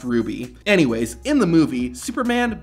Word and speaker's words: RWBY: influence fantasy series RWBY which I just realized is supposed to be pronounced Ruby anyways in the movie